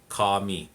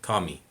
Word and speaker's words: kami: kami or kami it's kami kami because again the the a is always going to be like ah and the eyes uh